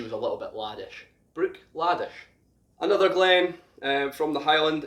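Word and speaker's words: Bruichladdich: again like glenn fish the ddich on the end is pronounced sh so this is brook the br uich brook laddish brook laddish now the reason behind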